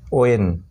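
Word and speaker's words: when: তারপর ডাব্লিউ এইচ ই এন, ওয়েন, ওয়েন, এখানে কিন্তু হোয়েন উচ্চারণ না।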